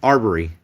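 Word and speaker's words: Arbery: was it the uh Arbury Arbury arbory is how you say is uh Ahmad I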